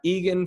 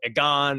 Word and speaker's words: Egan: right exactly exactly yeah so uh uh it's pronounced egan right yes okay cool i just wanted to